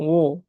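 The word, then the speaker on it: 我: তাইলে ও এর উপর একটা স্ট্রেস হবে।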